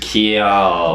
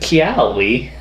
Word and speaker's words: Keyali: It's kind of like Kelly, though. Yeah. It's like if you didn't know how to pronounce Kelly's name correctly. Yeah, it's just Keyali. What's it? Keyali.